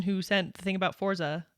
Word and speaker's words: Forza: This is a word from Italian, meaning force in Italian.